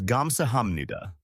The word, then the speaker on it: 감사합니다: The pronunciation is 감사합니다.